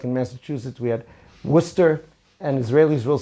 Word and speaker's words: Worcester: I think it's actually pronounced Hushatin, even though it's written Husyatin. It's kind of like in Massachusetts we had Worcester, and Israelis will say, do you know my cousins, they live in Worcester?